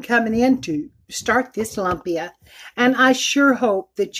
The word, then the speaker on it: lumpia: meat cool down before I can roll the lumpia is how it's pronounced.